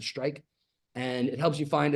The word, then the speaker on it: STRIQ: They pronounce it Strike.